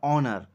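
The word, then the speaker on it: honour: অনারেবল ম্যান এখানেও দেখো এইচ টা কনসোনেন্ট থাকা সত্ত্বেও অ সাউন্ড হচ্ছে আর এখানেও দেখো এইচ থাকা সত্ত্বেও কনসোনেন্ট অ হচ্ছে অ্যান অনার অ্যান অনারেবল ম্যান অ্যান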